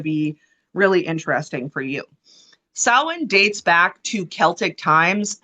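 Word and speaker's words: Samhain: from the Gaelic word it's also pronounced Salin but it's s-a-m b-u-i-n is the original spelling of it okay so it originates from Celtic uh Celtic paganism however yes sowin but it the okay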